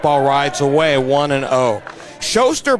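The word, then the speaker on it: Schoser: rides away one and0 showster by the way is spelled SC h o s e r as Mark Thompson gave me a pronunciation lesson here this afternoon here's the 1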